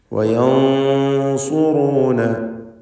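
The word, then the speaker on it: وينصرون: വയൻസുറൂന, സക്നത്തായ നൂനിനെ ശേഷമുള്ള സ്വാദ് വന്നതുകൊണ്ട് ഇഖ്ഫാ ഹഖീഖി നൽകി മറച്ചു മണിച്ച് തഫ്ഖീമോടുകൂടി ഉച്ചരിക്കണം. സ്വാദ് ഇസ്തിഅലാഇൻ്റെ തഫ്ഖീം ചെയ്യേണ്ട അക്ഷരമാണ്, സ്വരഭാരത്തോടെ തടിപ്പിക്കേണ്ട അക്ഷരമായതുകൊണ്ട് മണിക്കലിലും ആ തടിപ്പിക്കൽ തഫ്ഖീം ഉണ്ടാവണം. വയം എന്നിങ്ങനെ തടിപ്പിച്ച് തഫ്ഖീമോടുകൂടി വയൻസുറൂന എന്ന് പറയുക.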